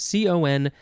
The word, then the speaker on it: confidant: So it is spelled Confidante. Noun from 1662. I feel like we need to emphasize the way that we say this. The first one is confidant, and this one should be confidante.